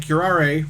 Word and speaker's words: curare: And curare, which is, I guess, the correct pronunciation, because I've been doing it wrong the whole time, is, in fact, in that book as well.